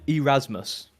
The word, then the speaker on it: Erasmus: Yeah, and I believe it was our old buddy Erasmus. Okay, what did he say? Elongate the E, of course. That's how we say his name, Yep.